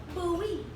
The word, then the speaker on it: Bowie: My sister said the city we're moving to is called Bowie, but it spelled like Bowie, like David Bowie. But it's pronounced Bowie.